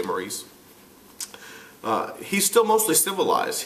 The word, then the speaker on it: Maurice: lets you know that Maurice here or Morris however you want to pronounce it I like to say Maurice uh he's still mostly